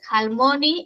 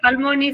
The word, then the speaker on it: Halmoni: Claro, Almoni se escribe con h. H, almony sería. Dudé mucho en dejarlo en el título porque para nosotros en español la H no suena.